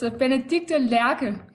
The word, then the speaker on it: Benedicte Lerche: My name, pronounced in Danish, is Benedicte Lerche.